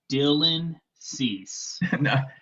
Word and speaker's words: Dylan Cease: pronounced it wrong it's it's pronounced dylan cease dylan ceases era against